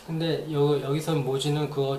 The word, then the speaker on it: 모지: 그래서 이 보디를 한자에서는, 한국어에서는 모지라고 발음합니다.